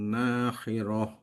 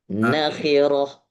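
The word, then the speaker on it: نخرة: A'idha kunna idhoman nakhirah. Nanya nggak ada mat tobi. Pendek. Iya. Nakhirah.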